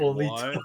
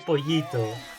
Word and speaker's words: Pollito: Bro, Dame wait, Polito. what? Dame Polito? What? Like, it should be Dame Pollito. And if you want to pronunciate that syllable, you need 2 L in Spanish.